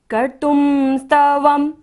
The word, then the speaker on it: कर्तुं स्तवं: सोहं तथापि तव भक्तिवशान् मुनीश कर्तुम त के ऊपर बिंदु है और बाद में क्या है स तो यहाँ पर हम बिंदी का उच्चारण क्या करेंगे म। कर्तुम स्तवम व के ऊपर बिंदी है और बाद में क्या है व। कर्तुम स्तवम तो बिंदी का उच्चारण यहाँ पर हम म करेंगे।